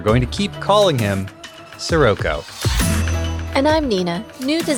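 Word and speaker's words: Scirocco: it comes from a real word which is pronounced Sirocco. But in the Japanese it's Sirocco, and it's a made-up space Jupiter name. And it's spelled S-C-I-R-O-C-C-O. So we're going to keep calling him Sirocco.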